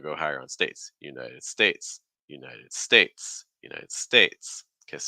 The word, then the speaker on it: United States: next word so the United States United States most the stress is going to be on States okay um United United United States okay um hello also